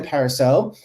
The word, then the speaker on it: Parisot: loop my name is pariso uh the t is silent um i'm the software